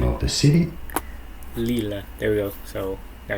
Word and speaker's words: Lille: Lille is Lille. how There you we say Lille. the name of the city. Lille.